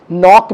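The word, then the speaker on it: knock: किया अभियान शुरू करना नॉक में के साइलेंट है नॉट पढेंगे दस्तक देना खटखटाना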